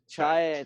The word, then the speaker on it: Chiat: Chiat.